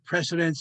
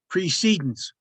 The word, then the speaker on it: precedence: procedure, the precedents, and make sure I pronounce this right because they're very clear about it's not precedents, it's precedence.